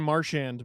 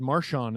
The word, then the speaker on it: Marchand: I keep saying Marchand, but he did his pronunciation thing, and he said Marchand, and I went, I shouldn't be discovering how to pronounce his name in his late 30s.